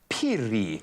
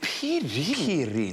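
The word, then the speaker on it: Phiri: It is Piri. Piri, spelled P-H-I-R-I, Piri.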